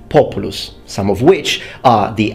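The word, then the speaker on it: Populus: the genus called populous or to use actual latin pronunciation populous some of which are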